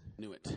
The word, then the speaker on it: Nuit: Nuit. I believe it's pronounced Nuit in French.